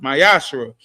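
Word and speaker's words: מעשר: and Malachi 3: 8-10 means T in Hebrew and it's pronounced mayash 10% of every penny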